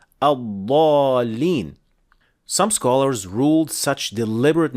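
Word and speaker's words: الضالين: Some people, for example, insist on saying al-dhalin instead of the correct pronunciation al-dhalin.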